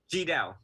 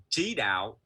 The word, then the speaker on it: Tri Dao: Yeah, okay, So I mean, if you were to Venerable pronounce it the Vietnamese way, right? It's Ji Dao, Ji Dao. T Dao. But in American way, you know, it's kind of like CHI, so the Ji Dao.